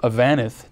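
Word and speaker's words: Avanath: Darrell is Chairman of the National Multifamily Housing Council, as well as the founder, Chairman, and CEO of Avanith.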